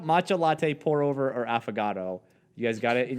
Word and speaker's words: affogato: An avocado? No, no, it sounds like it's spelled AFFOGATO. An affogato.